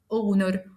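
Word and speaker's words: honour: التعريف ا والمثال عندنا اشهر ثلاث امثله اور اونر اونست بالرغم ان الثلاث كلمات بيبتدوا بحرف الاتش وهو حرف ساكن الى انه لانه سايلنت احنا نطقنا تاني حرف الاو فبالتالي بقت اور ساعه اونر شرف اونست شريف وبالتالي النطق نطقته حرف متحرك اذا فحطيت اداه التعريف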